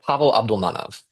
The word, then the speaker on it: Pavel Abdulmanov: I pronounce his name, Pavel Abdul Man. Oh, you tell me how to pronounce his name. Yeah, Pavel Abdulmanov.